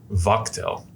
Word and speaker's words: Watchel: Watchel, as I just found out is pronounced Watchel, but we won't get into that.